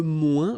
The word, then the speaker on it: moins: Okay, so le moins, remember when we combine this O-I-N together, we get the sound ouin, ouin, ouin, okay, and we don't pronounce this final S.